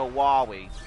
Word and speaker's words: Wily: So on that, it seems like the pronunciation is like Dr. Wily, and then in Mega Man 8, Dr. Light's voice actor, yeah, he literally says Dr. Wowie.